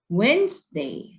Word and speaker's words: Wednesday: No No นะ เค้า เรา ออก เสียง ว่า Wednesday ออก ตาม นะ คะ เว้น ส์ เดย์ เว็บ